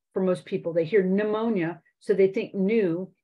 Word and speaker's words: pneumonia: most people they hear pneumonia so they think new n e and you can often see it spelled any W uh as opposed to p n e u knew that that p is silent so spelling becomes an